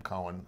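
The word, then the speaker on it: Coen: make fun of them they pronounce the name cohen and uh that's how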